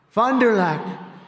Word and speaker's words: Fond du Lac: Fond du Lac.